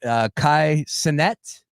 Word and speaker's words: Kai Cenat: Kai Cenat is how you say it?